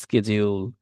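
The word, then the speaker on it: schedule: মানে এই যে শিডিউল বলতে অনেকে অনেকভাবে উচ্চারণ করে, আমি বাঙালি মানুষ শিডিউল উচ্চারণ করি, অনেকে বলবে স্কেজিউল, কেউ কেউ তো এইটার উচ্চারণ নিয়ে মোটামুটি একটা কোর্সও খুলে ফেলতে পারে। এরকম ভাবে স্কেজিউল মানে বাঁকা চাকা কইরা মানে একেবারে ফাটায় ফেলে। আলটিমেটলি আপনি আপনার মতো করে উচ্চারণ করুন, আপাতত ইংরেজিকে এত কঠিন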